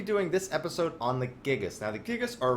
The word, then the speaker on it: Gigas: Where we're going to be doing this episode on the Gigas.